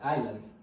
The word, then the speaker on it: island: meant Iceland Island Island because we don't have to pronounce the S in this particular world we just have to make like it's silent and we just have to say I but not Iceland because Iceland is a country also we we have